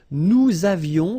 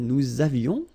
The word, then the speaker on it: nous avions: Nous avions, let's make this beautiful liaison here. Nous avions, okay?